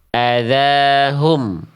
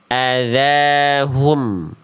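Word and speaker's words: أذاهم: Banyak orang melafalkan huruf berharakat dommah itu dibacanya cuma begini. Azahum. Adzaahum. Nah, ini harakat domah yang tidak sempurna, tidak maksimal. Harusnya muncungkan mulutnya ya. Adzahum.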